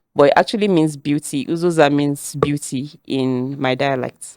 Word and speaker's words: Uzoza: time, they're like, oh, Uzoza. But most people are like, Uzo, how far? I'm like, Uzo from where to where? Okay. Uzoza. Yeah, it means Uzoza. Beauty. It means beauty. It's Uzoza.